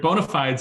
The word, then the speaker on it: bona fides: Your bona fides is a perfectly acceptable pronunciation.